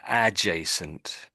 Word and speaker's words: adjacent: I, I I would say you don't really hear that letter there, the D. So it's sort of adjacent, adjacent. It's not really adjacent.